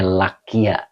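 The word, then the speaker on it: لَقِيَ: Nah, di sini dibaca waqad laqiya. Jadi dibacanya lakia ya.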